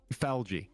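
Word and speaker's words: Phlage: I think it's pronounced like algae. Oh, so it's like Flaggy? Falgy. Oh, Falgy. I like how the pronunciation of it swaps the A and the L.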